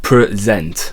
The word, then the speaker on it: present: on certain syllables so in the verb IE to present something the inflection goes up at the end so it's present there's it's higher in